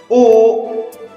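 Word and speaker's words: او: U ini dibacanya U.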